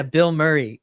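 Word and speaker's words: Bilmuri: to look him up yeah Bill Murray but it's spelled like b i l m u r i or something like that okay that's funny I'll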